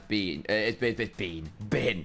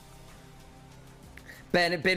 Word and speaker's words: Bin: I mean, the best top laner in general is Bean. Bean. Now he's mispronouncing all the top laners. But Bin is just best at everything at the minute.